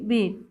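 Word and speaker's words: beat: যেমন কি ইংরেজিতে বিআইটি, ইংরেজিতে শব্দ যেমন বিআইটি এর উচ্চারণ হচ্ছে কি বিট, আবার বিইএটি এটা হচ্ছে উচ্চারণ কি বিট। প্রথম শব্দের ই ধ্বনিটা হচ্ছে হ্রস্ব, আর দ্বিতীয় শব্দের ই হচ্ছে কি দীর্ঘ, এবং এই দুই স্বর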